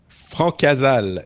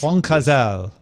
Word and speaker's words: Francazal: Francazal is how you pronounce. Francazal. Francazal, yes, probably.